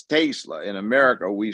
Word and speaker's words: Tesla: And the way you would pronounce it is E is A, not A. So it's Tesla. In America, we say Tesla.